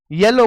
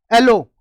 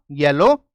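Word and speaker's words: yellow: ऐसे ही येलो को एलो, एलो बोल जाते हैं, नहीं करना, आपको या की साउंड ही प्रोनाउंस करनी है, अ येलो शेड।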